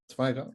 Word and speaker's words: Zweigart: Zweigart.